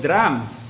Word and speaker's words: dram: So now there's a measurement also called drams. Okay. So it's not the drum that we knew in the present time, like it's a huge drum where oil is, contains oil, 1 drum. Dram, D-R-A-M.